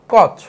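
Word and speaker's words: Koch: আছে Robert cock আছে দেখো ইংলিশে কে ও সি এইচ এটাকে কচ বলা যায় আবার বাংলায় বলছে আসলে কক তাহলে রবার্ট কক আর রবার্ট কচ কিন্তু আলাদা ব্যক্তি না জাস্ট উচ্চারণের মিস্টেকের কারণে এরকম শোনাচ্ছে আমাদের এই রবার্ট কচ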